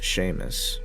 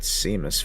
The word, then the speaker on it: Seamus: He said his name was Seamus. I pronounced it Seamus for the longest time until he corrected me.